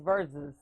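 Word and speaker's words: Verzuz: It's verses. Verses, but they have a Z in there.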